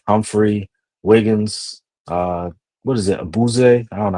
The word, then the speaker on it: Awuzie: two, Washington, Alexander, Humphrey, Wiggins, what is it, Abuze? I don't know how to say his Yeah, name. Woozy. Yeah. Awuzie.